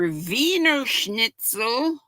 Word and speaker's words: Wiener Schnitzel: And the food holidays are Wiener Schnitzel. Mishi could tell us about that. It looks like wiener, but I know it's pronounced Wiener. You know, the W's are pronounced like V's, V's like W's.